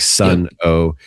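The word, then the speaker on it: Sunn O))): Um, Sun O, is that how you pronounce it? It's like Sun O.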